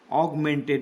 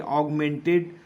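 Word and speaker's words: augmented: तो type A इसे ए यू जी एम ए एन टी एग्गमेंटेड ऑगमेंटेड ए यू को you pronounce करेंगे ऑगमेंटेड type A date इस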